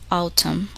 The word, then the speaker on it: autumn: The letter N is silent in the following words. Listen and repeat each word after the speaker. Autumn, column, hymn.